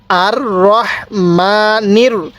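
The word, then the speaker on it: ٱلرَّحْمَٰنِ: কিভাবে পড়বো আর রহ কেউ রাহ পড়বো না রব রাহ পড়বো না তাহলে আর রহমানির দেখুন এই রটা একটু পড় করে পড়বো আর রহমানির রাহিম আর রহমানির রাহিম র জবর র কেউ র জবর রা পড়বেন না তাহলে আর রহমানির রাহিম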